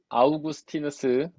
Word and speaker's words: 아우구스티누스: 아우구스티누스, 이제 영어로는 어거스틴이라고 하는데 원래 발음은 아우구스티누스인데, 그 사람이 신앙은 곧 교만이라고, 죄는 곧 교만이라고 했잖아요.